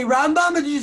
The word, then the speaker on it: Rambam: So the way they say is, you have the Rambam, you put the accent on the first syllable, then you have the Ramban, you put the accent on the second syllable.